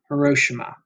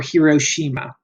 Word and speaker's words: Hiroshima: the Japanese city of Hiroshima, or Hiroshima. You can pronounce it either way. It's okay. Don't get all upset if someone says it a different way.